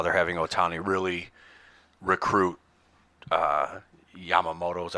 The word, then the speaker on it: Yamamoto: I had to go back and look for it, but I read an article today about how they're having Ohtani really recruit Yamamoto, is that how you say his name?